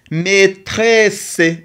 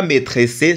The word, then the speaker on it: maîtresse: A I ça donne le son et maîtresse et double et ça donne le son c. Maîtresse, c'est pas maîtressé parce que ici c'est le muu on ne le prononce pas.